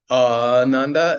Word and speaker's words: ananda: an so it's a long the ananda is a long a it's always a long a when we use it in the context that